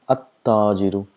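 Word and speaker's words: التاجر: So we have to mention about this letter here, huruf shams, where we've already tell that the sound of lam is silent, so we pronounce it at-tajiru.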